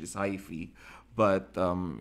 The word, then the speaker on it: hyphae: branching and non-branching filamentous structure so it is hyphae okay the correct pronunciation is High free but um it's for singular for plural okay